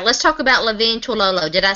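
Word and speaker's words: Levine Toilolo: All right, let's talk about Levine Tololo.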